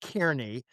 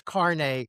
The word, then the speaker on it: Kearney: And I was lambasted appropriately because the last thing I put out on this, I mispronounced his name and kept saying Kearney and I gather the correct pronunciation is Carney.